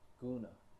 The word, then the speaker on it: guna: Guna.